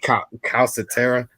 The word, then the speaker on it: Calcaterra: Calcaterra.